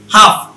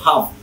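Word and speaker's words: half: হাফ, এইচ এ এল এফ, এল এর উচ্চারণ বাদ, এইচ এ এল এফ হাফ।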